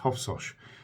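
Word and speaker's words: Hofsós: place for me personally is a place called hofsos that's how it's pronounced hoffos H FS o s and we actually stayed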